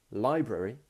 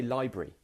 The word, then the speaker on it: library: You can either say library or you can say library.